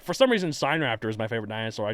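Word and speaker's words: Sinraptor: Also, I pronounced it Sin Raptor back in the day. We're finding out it's like sign, like Chinese. Once again, math, sine, cosine, It's true. It's not cosine raptor or tangent raptor.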